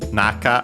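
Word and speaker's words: 中: Uh by the way, uh even though naka on its own would be accented on the first syllable, this one uh is unacented. Naka uh and so be careful.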